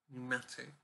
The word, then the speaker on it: pneumatic: I'm thinking of the word pneumatic, which is spelled with a P at the start. It's PNEU, pneumatic.